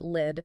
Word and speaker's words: lead: And uh actually, just a quick note for anyone reading the transcript later, that's lead spelled l e a d pronounced lid.